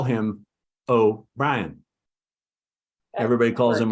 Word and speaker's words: O'Brien: because I call him oh Ryan everybody calls him O'Brien I call him oh Brian so I kept looking